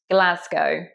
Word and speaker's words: Glasgow: It's not like ow as in cow. It's an O. Glasgow.